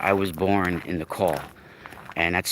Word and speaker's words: caul: show yesterday that i was born in the call and that's spelled c-a-u-l and with the umbilical cord wrapped